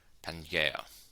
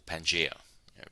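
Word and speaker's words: Pangaea: have become familiar with Pangea or Pangea different ways pronouncing it all of them are the same as long as you spell it right it's all good now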